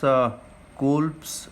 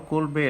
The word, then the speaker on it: Kolbe: And now comes Kolb's electrolysis or Kolbe electrolysis, in whichever manner you want to pronounce, you can pronounce it.